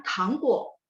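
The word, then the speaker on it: 糖果: Terus yang dibaca tadi sama Gabriela, tangguo. T baca TH. Tangguo.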